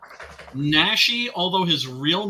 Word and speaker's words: Naschy: Is it Naschy? Naschy, although his real name was Jacinto Molina.